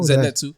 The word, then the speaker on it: Zenitsu: Zenitsu.